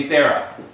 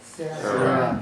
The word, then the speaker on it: Sarah: It has a hey at the end. Why is this not a closed syllable here? Here's one open one. Why is this not one also closed to where we say Sarah? Because this is a vowel indicator because it's in the list here.